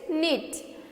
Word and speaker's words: knit: And next is knit, KNIT knit. Here again K is silence in this word, okay, KNIT knit, KNIT